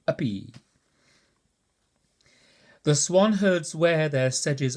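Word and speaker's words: uppe: Up is spelt U-P-P-E. I expect you gathered I've been saying uppy.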